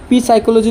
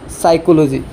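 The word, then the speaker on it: psychology: উচ্চারণ করব না লাগে জাস্ট লিখিব আগে বুঝিল পি সাইকোলজি হয় কি সাইকোলজি পড়িবা পি সাইকোলজি উচ্চারণ হয় উচ্চারণ সঠিক উচ্চারণ হলিয়ার সাইকোলজি সাইকোলজি মনোবিজ্ঞান বুঝি তার পিছ এট পর পিউমনিয়া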